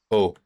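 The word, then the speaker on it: eau: Oh.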